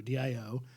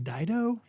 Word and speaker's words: Dio: Ronnie James Doo and it was just do Dio and I literally read I was like is this did they he pronounce his name Dao and the producer Jos fortin's like I'm not